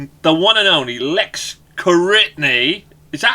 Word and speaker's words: Koritni: to the show The One and Only Lex karitny is that how you pronounce it by the way have I been